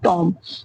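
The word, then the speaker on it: tomb: टॉम क्या है, बी को क्या है टॉम में साइलेंट कर दिया गया है, क्योंकि ये क्या एम के बाद आया है।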